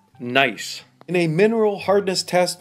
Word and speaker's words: gneiss: More precisely, it's a type of granite pronounced gneiss.